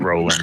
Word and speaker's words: Roland: Okay, so it's pronounced row as a row of boat, but Roland, yes.